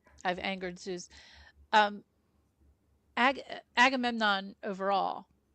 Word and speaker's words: Agamemnon: and uh Safy's charact Oh, well Safy playing Agamemnon.